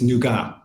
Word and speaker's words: Nougat: You know, by the way, just real quick, I was in France last week, and it's Nougat.